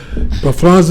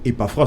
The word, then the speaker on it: Epaphras: Epaphras, dites-nous, comment ça se prononce? Ça se prononce Epaphras tout simplement. Epaphras. Oui, E-P-A-P-H, P-H qui font F.